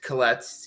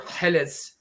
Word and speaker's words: Killetz: And I figured that would be difficult for, for the nations to pronounce, so I just used Killetz, easier. But Killetz or Helitz means restorer.